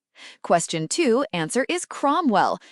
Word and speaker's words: Cromwell: Question two answer is Cromwell. Note ow sounds o.